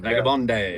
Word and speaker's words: Vagabonde: It's that Vagabond has an E on the end. Vagabond day.